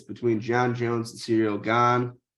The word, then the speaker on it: Gane: Jon Jones and cereal gone Gane yeah you said it right the first time yeah it's real gone uh heavyweight fight um